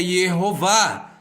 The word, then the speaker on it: Yehová: Shevá, Rolan, Kamatz, E-O-A. Portanto, o nome é Yehová.